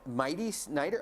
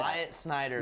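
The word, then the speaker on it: Myatt Snider: cutoff with that, because is it Mighty Snyder? How do you pronounce that? Myatt Snyder.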